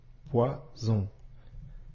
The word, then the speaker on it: poison: et la lettre O ici la lettre S se prononce bien comme le son ze poison maintenant pose-toi la question